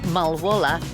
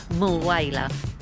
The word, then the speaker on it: Mulwala: Those of you that watched my Broken Hill video would know that I was fascinated by what I called Mulwala Canal. It's actually pronounced Mulwala.